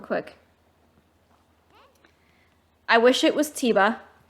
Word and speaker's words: Tiba: I wish it was Tiba. I know Age of Calamity pronounced it as Taba, but I always pronounce it in my head as Tiba, so that's just what I call him.